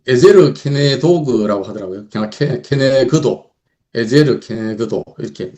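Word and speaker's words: עזר כנגדו: 그냥 케네그도, 에제르 케네그도 이렇게 뭐 발음이 어려운데 이거 외울 필요는 없고 그냥 뭐 듣기만 하면 되시겠는데, 여기서 케네그도란 뜻이 그와 마주하다, 대응하다, 대면하다, 이런 뜻이래요.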